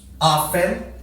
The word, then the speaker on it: often: Aí nós temos um pouco mais frequente, que é o seldom, depois o occasionally, sometimes, often. Cuidado com esse daqui, que esse T é mudo, tá bom? Often.